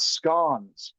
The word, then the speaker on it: scone: And he even talked about scon, not scones. You mispronouncing ignorant Americans. It is definitely scon.